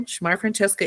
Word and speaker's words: Shmarafrantcheska: the audience I am Shamar Francesca shmar francheska is one name um oh my I